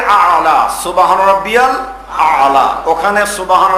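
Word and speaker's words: الأعلى: এখানে আইন দিয়ে আ'লা, সুবহান রাব্বিয়াল আ'লা, ওখানে সুবহান রাব্বিয়াল আযীম রুকুতে।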